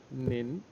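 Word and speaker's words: 您: the same kind of expression is used as nin nin and in Urdu we call it up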